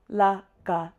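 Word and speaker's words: ལག: La, ga, lag. La, ga, lag. If we wanted it to be the longer word, lagpa, we would say la ga la ba.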